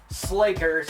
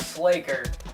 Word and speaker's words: Sla'ker: I'm gonna call him Sla'ker because it rhymes with Faker, and Faker is one of my favorites, so that's what I'm gonna call him.